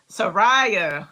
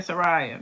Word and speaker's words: Sariah: It's pronounced Mariah with the S. Sariah. I like when y'all tell me how to do it, right? And I ain't gonna forget that. Mariah. Sariah.